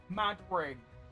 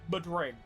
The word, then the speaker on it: Madring: It's pronounced mad ring. Why did they just call it the Madrid ring? I feel like that rolls off the tongue so much better than mud ring or mad ring.